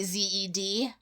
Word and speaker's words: zed: z yes but then when you say it you say zed even though you write it like that all the rest